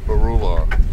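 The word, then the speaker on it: Beroular: Barula. Barulo? Barula. Barula? Yeah. Spell it.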